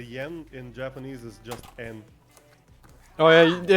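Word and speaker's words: 円: fact uh the yen in japanese is just n oh yeah it's pronounced then yeah yeah but it's written yen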